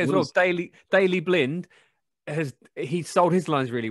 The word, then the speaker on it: Blind: It's pronounced blind. Roger that. Now it's a party. Young, cover the wing. Of course. Smalling, don't let them through. They're everywhere. Blind, move forward. It's blind, like wind.